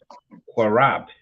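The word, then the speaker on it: קרב: So when you connect it, you lose the A.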